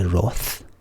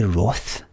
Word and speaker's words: wrath: i'm being pedantic but wrath is pronounced roth and sloth is pronounced sloth youngsters across the country